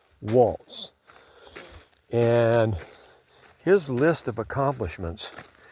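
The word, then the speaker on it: Walz: name is Tim Waltz w a l z Walts and his list of accomplishments I'm going to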